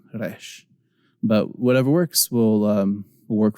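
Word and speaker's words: ריש: And I just, from the way I grew up, I tend to pronounce resh like a ra, resh.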